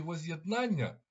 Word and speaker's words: возз'єднання: за підказкою до Оленки і буквою є а наголос падає на другий склад діти Повторіть будь ласка возз'єднання А зараз придумайте речення